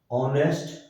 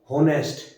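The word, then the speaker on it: honest: तो इनमें H silent है बेटा, ठीक है, हम इसको हावर नहीं बोलेंगे, हॉनर, होनेस्ट, हायर, ये नहीं बोला जाता, एच is silent, honour, are, ऑनेस्ट, आयर, तो इन सब के सामने क्या आएगा बेटा, एन।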